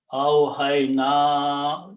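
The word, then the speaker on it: أوحينا: That's the awhayna. It should be pronounced that way because of this hamza.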